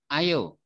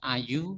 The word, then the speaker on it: ayo: Ayo. Repeat after me. Ayo. Ayo. Ayo. Ayo. Not ayu, but ayo.